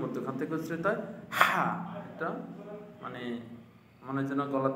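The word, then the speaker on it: ح: আমরা শিখে নেই স্বাভাবিকভাবে হলকের হলকের শেষ ভাগ হতে উচ্চারিত হয় স্বাভাবিকভাবে হলকের শেষ ভাগ হতে উচ্চারিত হয় হা স্বাভাবিকভাবে হলকের শেষ ভাগ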